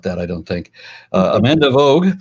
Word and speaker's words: Voogd: Amanda Vogue, pronounced Vogue or Vogue.